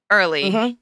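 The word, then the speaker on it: Erle: popular earl stanley earl early arrow i think it's yeah you're an earl it's spelled e-r-l-e in case anyone is wondering why i paused there earl stanley gardner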